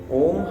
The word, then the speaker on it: ओम: इसका उच्चारण होता है जैसे नाभि से अ हृदय से उ और कंठ से म यह तीन शब्द का उच्चारण ओम के अंदर आता है जैसे ही हम